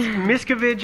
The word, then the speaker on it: Miscavige: not you may not you might not recognize it because that's not how a lot of people pronounce it too yeah it's miskovich I've seen or I've heard